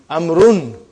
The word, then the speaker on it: عمرو: Why do you have extra vav? It is not read. It is not pronounced. It is only written. Why? Just to differentiate between these two. Actually it is Amrun.